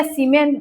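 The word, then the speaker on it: Siemens: साइमन या सीमेन जो भी बोलते हैं सबका अपना-अपना प्रोनाउंसिएशन होता है। कोई इसको सिमन बोलते हैं। कोई इसको साइमन बोलते हैं।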